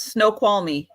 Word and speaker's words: Snoqualmie: Snoqualmie.